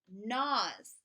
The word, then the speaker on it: gnaws: on the bone he nos that means to chew he gnaws on the bone we've right Naz with a silent G n number four bend